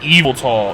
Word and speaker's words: Yveltal: Yveltal. Yveltal. That's how you say it. I think it's Evil Tall is how it's, like, officially.